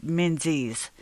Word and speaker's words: Menzies: So yeah, kudos to Tobias Menzies. He's brilliant. I think I'm saying his name wrong. It's Menzies. So anyway, and he's great in The Crown.